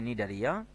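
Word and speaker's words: Cnidaria: মুখস্ত রাখতেই হবে তারপরে নিডারিয়া তো দেখো নিডারিয়া বানানটা দেখো এন আই ডি এ আর আই এ তার পূর্বে সি হবে সি নিডারিয়া নিউরোসাইট নামক বিশেষ বৈশিষ্ট্যপূর্ণ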